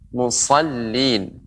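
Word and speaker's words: مصلين: Di sini kita telah mempraktekkan huruf shad, musallin. Bagaimana pengucapannya? Huruf shad tetap tebal ya, huruf shad dibaca tebal, sa ya, lidah sa, sa, musallin ya, musallin.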